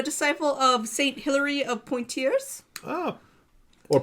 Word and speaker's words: Poitiers: He became a disciple of Saint Hilary of Poitiers. Or Poitiers. Poitiers, yes. It's French. It's okay. No one can pronounce French.